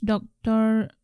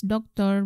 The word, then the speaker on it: doktor: Normally we pronounce doktor not as doctor, but I, for myself